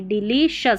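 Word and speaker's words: delicious: डी ई एल आई डिलीशियस सी आई ओ एस को सी आई ओ यू एस इसको शस करके पढ़ते हैं।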